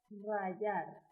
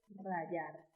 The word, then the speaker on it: rayar: Estos alimentos se rayan con un rallador y se utiliza el verbo rayar. Otro verbo que se pronuncia de la misma manera, pero se escribe distinto, es el verbo rayar con Y.